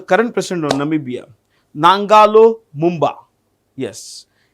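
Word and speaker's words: Mbumba: president of Namibia nalo Mumba yes n a n g o l o I repeat n a n g o l o nalo Mumba m b u MBA MB U MBA which Ministry has signed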